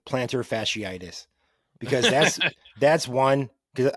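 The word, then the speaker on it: plantar fasciitis: to run but like people cannot pronounce it when they read it like planter for shot planter fishy his foot has an issue or fidus or FAS they just butcher it so I commend you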